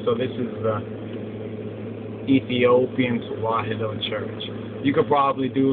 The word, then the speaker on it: Tewahedo: Well, some say Tawhido, that's a bad pronunciation. But anyway, Tewahedo Church, right?